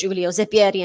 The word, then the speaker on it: Zeppieri: a moment where i thought i'd got his name wrong but it is julio zepiri and he does have a set point here